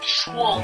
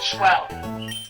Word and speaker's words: schwul: It's schwul, not schwell. Schwul.